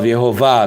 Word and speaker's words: Yehovah: sometimes they use VAV so that the letter V is the sound of yehovah not W with W no but with v and other thing we